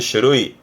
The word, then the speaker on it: 種類: 발음은 슈루이 슈루이 종류의 종이다 보시면 될 것 같습니다.